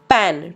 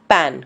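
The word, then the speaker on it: pan: का इस्तेमाल करते हैं पैन please do not pronounce this as पान इट इज पैन गुजराती मा तावी हिंदी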